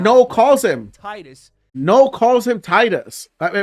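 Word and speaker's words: Tidus: I guess I pronounced his name wrong for the entire video. Yes. Titus.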